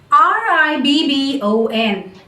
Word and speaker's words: ribbon: R-I-B-B-O-N. Ribbon. Ribbon. So there is no stress. There is no pressure on the mouth, on the tongue, or on my jaw whenever I am taking out this short sound.